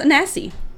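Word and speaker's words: Anansi: Nancy sorry yeah oh yeah as an Aussie yeah actually I found it's pronounced at nasi oh maybe I've been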